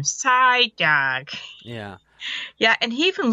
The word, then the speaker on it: Psyduck: of the more oh Psyduck actually side Psyduck because that's how you say his name Psyduck yeah yeah and he